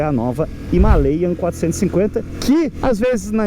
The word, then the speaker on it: Himalayan: gente que reclama que eu falo himalayan né himalayan em português himalayan é como um americano pronunciaria mas sabe como os indianos da Royal anfield que estão lá no Himalaia né são os caras locais sabe como é que eles pronunciam himel a pronúncia a sílaba tônica é o e não o i em português ou a aqui no inglês americano então se você quiser